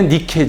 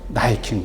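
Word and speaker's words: Nike: 신발 이르면 나 잊힌 원래 니케 줘 승리의 여신 니케 하고 준 거예요 그 영어식 발음으로 나이키는 거예요 그래서 복음 사회적인 용어로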